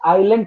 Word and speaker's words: island: Sir Australia, which continent is also known as आइलैंड continent? S silent रहता है, आइलैंड continent Australia.